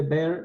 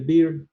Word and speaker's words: Beer: Que por cierto se dice ley de Baire, no ley de Beer, porque Baire era alemán y entonces como es alemán se pronuncia Baire.